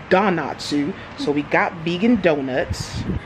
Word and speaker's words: Donatsu: to don natsu and savannah keeps telling me i'm not saying it right because i kept saying dinatsu but no it's donatsu so we got vegan